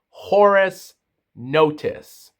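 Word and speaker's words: Horace Notice: Say hello to Horus Notice and his name is spelled H O R A C E space N O T I C E.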